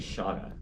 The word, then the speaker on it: Shauna: it because I think if it's Irish/Welsh Welsh, it's actually Shauna. Shauna. Like the the I functions as an the I functions as an H.